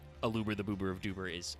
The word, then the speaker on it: Aluber: also people saying like a Luber the boober of duber is uh uh alubra is actually pronounced aluber it's just the rest